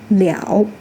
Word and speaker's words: 了: When used as a complement word, it is pronounced "le ao" "le ao" in the third tone.